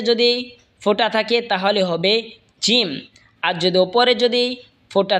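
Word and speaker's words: جيم: এরপর এটা হলো জিম। জিম জিহ্বার মধ্যখান তার বরাবর ওপরে তালের সঙ্গে লাগা উচ্চারণ হবে জিম।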